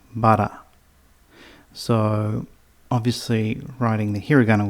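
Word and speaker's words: ばら: And it's pronounced bara.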